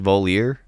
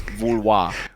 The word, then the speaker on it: Vouloir: It's not pronounced Voliere? No, it's not Voliere, it's Vouloir.